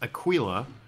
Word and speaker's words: Aquila: It's pronounced Aquila, and it's Latin for eagle.